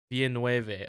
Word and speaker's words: Villeneuve: Dennis Villeneuve. Fuck. I already forgot how to pronounce it. Dennis Villeneuve. Villeneuve.